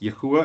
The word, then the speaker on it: Yahuwah: The Father's name is Yahuwah, is YHWH, but it's pronounced Yahuwah, and I can explain to you how I get to that.